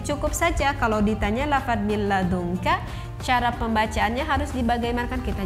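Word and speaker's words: مِن لَدُنكَ: Karena ini lamnya tidak boleh kita dengungkan, kan ini la, tidak boleh kita dengungkan. Jadi min ladunka, bukan min ladunka.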